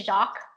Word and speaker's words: Jacques: But yes, it's Jacques. It should be Jacques, but Jacques. For some reason it changed, like with our certain lineage.